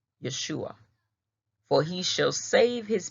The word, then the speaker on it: Yeshua: Yeshua, which is your old Hebrew language of pronouncing it.